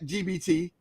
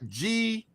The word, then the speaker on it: GPT: So far, there was AI chat GBT, and I'm saying it right, GPT.